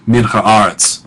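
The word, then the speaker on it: מִן הָאָרֶץ: phrase connecting 2 words, it means that whole string is pronounced as one word, min haaretz, for the purpose of accentuation. So you see that the accent is above the aleph in aretz, and so you wouldn't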